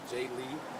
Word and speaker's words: Jailee: you pronounce her first animal first name is j lee and her last name is lassen so again